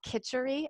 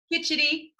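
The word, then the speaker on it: khichdi: I pronounce it wrong, but it's called kitchery. How do you say it? Kitchity.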